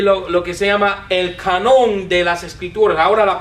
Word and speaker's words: canon: que se llama el canon de las Escrituras. Ahora la palabra canon, discúlpame. Un gringo que no sabe hablar español ni pronunciarlo. Canon, con acento sobre la A, ¿no?